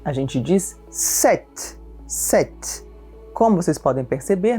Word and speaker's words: sept: O número 7, a gente diz sept, sept. Como vocês podem perceber, na escrita existe um P que fica completamente mudo no oral. Então, sept. 7 garçons, 7 filles, 7 enfants.